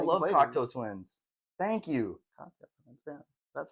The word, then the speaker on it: Cocteau: Cocteau. That's how you pronounce it.